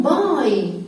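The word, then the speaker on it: bye: السلامه في اخر اليوم باي ممكن اقول له باي بس فانا ممكن اقول له ب باي ليه قلنا واينا اسمها ايه لان في الاخر في اي بس الاي في الاخر ما بنطقهاش هي سمه الفاول ده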